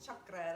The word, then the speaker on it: chakra: the root chakra and you say it like chakra that's the real way to say it i learned um so